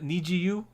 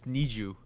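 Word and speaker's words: NiziU: Next one, Niziyu. I think that Nijiyu, is that how we're pronouncing it? I looked it up. Apparently, it's Niju.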